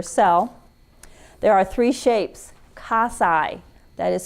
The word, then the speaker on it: cocci: shape of their cell there are three shapes cos i that is spelled c-o-c-c-i casai these are little round balls that resemble a